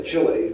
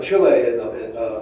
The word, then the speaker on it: Chile: in chile soy crown it's hard to pronounce that i always want to say chili but that's not right i was out in chile last may and and